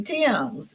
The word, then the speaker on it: Thames: I'm Thames. It's Yeah. pronounced a little differently. So, So, it's like the Thames River in England.